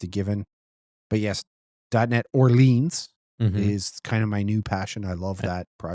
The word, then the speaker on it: Orleans: It's just Orleans.